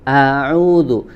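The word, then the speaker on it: أعوذ: Ya, salah satunya adalah pada bacaan ta'awudz, ya, a'udzu. Maka huruf hamzah di kata ini hati-hati kita tidak sampai atau jangan sampai membacanya dengan suara yang tebal, ya. Baca dengan suara yang tipis, istifal atau tarqiq, ya.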